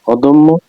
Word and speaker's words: অদম্য: পরের ধ্বনিতে জ ফলা থাকলে সেই অ এর উচ্চারণ ওকারের মত হয় যেমন অদম্য বানানটি হচ্ছে স্বরে দ ময় জ ফলা অদম্য অদম্য স্বরে দয় কর ময় সন্ত অদম ময়